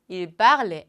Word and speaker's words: il parle: 그 다음 여기가 주의해 주셔야 할 파트예요. il parlons 하면 절대 안 돼요. il parle, elle parle. 자, 이쪽에 있는 발음과 완전히 똑같다.